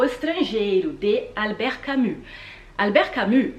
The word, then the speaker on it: Camus: falei para ele mas por que só cami não não se pronuncia é camu é porque como faz o